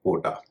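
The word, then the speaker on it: quote: इसका उच्चारण होता है कोटा य यू ओ टी ई इसे भी लोग कोट कहते हैं कोटेशन लेकिन इसका उतरण भी कोट और कोटेशन होगा इसी तरह कुछ और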